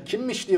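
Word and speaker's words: Kimmich: Kimmiş diye okunuyor. Alman spiker kimmiş demiyor mu?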